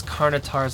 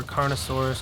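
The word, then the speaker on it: Carnotaur: So yeah, it is Carnotars. I kept saying it wrong over and over. Carnosaurus, Carnosaur. Sorry about that, guys. It's Carnotar.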